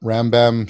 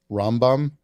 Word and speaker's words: Rambam: the pronunciation if you're Jewish reading it in Hebrew like with the how Jews pronounce it would be rambom which is a lot